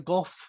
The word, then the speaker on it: Gough: Gough, is that right? It is Gough, yes.